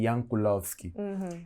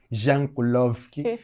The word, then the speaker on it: Jankulovski: que não se diz Jankulovski e disse Jankulovski? Não é que existem países em que o J lê-se como o I.